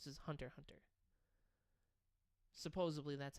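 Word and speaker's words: Hunter × Hunter: They're just like, you take the X out. The X isn't there. X isn't there. It's Hunter Hunter.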